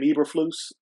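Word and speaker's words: Eberflus: you think they're gonna fire what's his name ebra flu is that how you pronounce it yeah that's how you pronounce it if we lose that game I do not think they will fire EA flu he has a fiveyear contract he's in year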